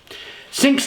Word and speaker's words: Cinque: think here we go sinks name derived from the French Norman French word meaning five pronounced sink and pays tribute to